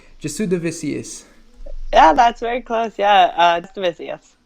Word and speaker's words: Jasudavicius: Jasudavicius.